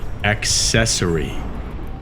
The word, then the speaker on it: accessory: I believe are difficult for non-native speakers to pronounce word number one accessory accessory a c c e s s o